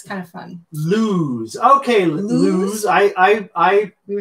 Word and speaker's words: Luz: Lose. Okay, lose. I we were saying LUZ? I was saying LUZ. L-U-Z. LUZ? Like love? Yeah, like love. L-U-Z. But it's pronounced lose.